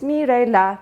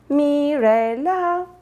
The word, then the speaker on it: Mirela: It's Mirela. You know, do, re, mi, fa, sol, la, si, do? Yeah, it's me, Mirela.